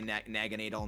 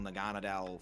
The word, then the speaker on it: Naganadel: I mean, even though I say Naganadel, Naganadel, flip-flop, because it's like Naga, and then I believe the German pronunciation of needle, which is, I believe, nadal.